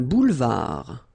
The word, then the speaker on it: boulevard: Un boulevard. Final D not pronounced.